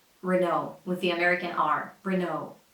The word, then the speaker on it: Renault: that's the right way Renault Renault with the American arm breno those final letters are supposed to be silent and the stress goes on the second syllable Remo Remo so this